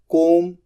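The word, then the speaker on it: comb: के श्रिंक बाल बनाना कोम सी ओ एम बी कोम यहां पर बी साइलेंट होता है बुझाना ब्लो बी एल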